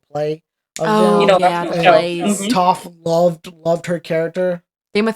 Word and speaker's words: Toph: Oh, Toph. Rhymes with tough.